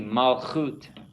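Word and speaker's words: מלכות: Repeat after me, malchut. Malchut. And it's a cough without a dagesh, so it has the soft sound.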